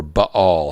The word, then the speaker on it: Baal: so in ancient times the god baal okay b-a-a-l right you or b all however you want to pronounce it he demanded the